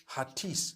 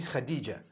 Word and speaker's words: Khadija: In Turkish, some people spell it H-A-T-I-C-E. I would say Hatis for that. No, it's actually Khadija.